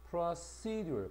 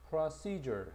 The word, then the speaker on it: procedure: 그럼 1번 보면은 procedure 강세가 여기에 있다. procedure 해서 여기 진행 발전